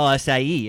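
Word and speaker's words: açaí: It's an acai spirit. Oh, it's so awesome. What does acai- that mean? What? Acai spirit. Acai? I mean, acai is that fruit, kind of like a pomegranate. Oh, acai.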